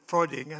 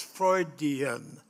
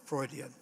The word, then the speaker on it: Freudian: babyhood it's sort of Fraud frauding and then fraan is that the right way to say it yes Freudian okay I've got it now Freudian so yeah it's uh